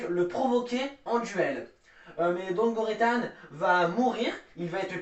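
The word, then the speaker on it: Don Guritan: Don Goritan, la prononciation Don Goritan.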